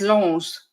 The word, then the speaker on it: Lens: But it's Lens. Apparently, it's Lens. Well, I'm not French. So to me, it's spelt the same as contact lens. So it's lens.